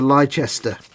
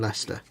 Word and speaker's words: Leicester: we imagine this says somebody said yes i'm just driving down to lychester what do you mean leicester as long as they